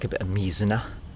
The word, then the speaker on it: mizuna: like a bit of me Xena please don't call it mizuna missoula mizuna is a is a river in somewhere it's not mizuna it's me Xena yeah there's a little